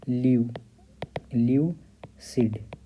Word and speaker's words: lucid: इसका फोनेटिक्स देख लेते हैं, इसका उच्चारण ल्यू सिड। ठीक, अमेरिकन और ब्रिटिश दोनों में सेम ही है।